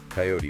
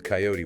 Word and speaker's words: coyote: The examples given were pairs like creek sometimes pronounced as creek coyote with two syllables versus coyote with three route rhyming without versus root rhyming with boot.